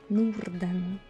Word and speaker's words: Norden: Yeah, we don't really pronounce the R. I mean you can, but it sounds a bit weird. Norden.